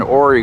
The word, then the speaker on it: Ouray: We're between Silverton, Colorado and Ouray, Colorado. That's spelled O-U-R-A-Y.